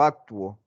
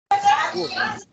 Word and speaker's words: actúo: porque, bueno, en teoría las dos, pero cuando uno dice actuar, ¿qué dice uno? ¿Actúo o actuo? Actúo. Actúo.